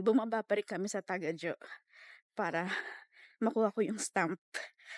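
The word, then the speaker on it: Tagajō: Not tagaho. Taga jo. Taga jo? Tagao. Taga Joe. Oh anyway, mali 'yung pronunciation ko. Taga ho ako ng taga ho Jo pala. Jay. 'Yung J is not HW Joe. Parang taga Jo ganun.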